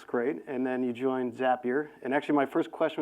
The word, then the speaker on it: Zapier: or is a peer yeah so so it's zapier zapper makes you happier is tagline to remember I found out this morning from Adam from frame dot IO that that British pronunciation is zapier so there you go we just did it